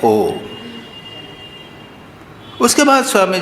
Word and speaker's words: ओम: वो कहते हैं इसमें अ उ म है, ओम जो है उसमें अ उ म है। जब हम ओम का उच्चारण कहते हैं तो पहले अ आता है। ये कहाँ हुआ? ये ओंठ खुल गए। ऊ ओम ओंठ जरा बंद हो गए, म में ओंठ बंद हो गए पूरे।